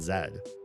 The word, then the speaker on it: Z: What does Z mean in the UK? Because there's no letter Z. There's X, Y, and zed.